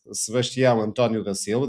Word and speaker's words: Sebastião Antônio da Silva: His name is Sebastião Antônio da Silva. This is the Portuguese pronunciation.